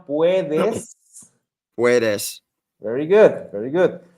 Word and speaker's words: puedes: tú, Puedas. a little bit pronunciation, puedes.